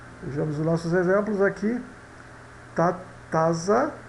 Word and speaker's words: taza: Taza, né? Tatsa, tatsa, tatsa, taça.